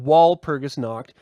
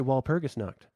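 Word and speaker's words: Walpurgisnacht: are you saying what well it's it's spelled with a W yeah but it's German you don't you don't walk around with your English dialect saying foreign languages do you I mean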